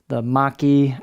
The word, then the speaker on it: machi: Handle install, just a quick note, this little gap here where the tang goes into the handle is known as the maki, or machi, depending on your pronunciation.